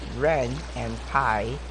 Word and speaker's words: Ren'Py: It was pronounced Ren and Pi, which you can, when you download the game engine, you'll know why it is pronounced like this.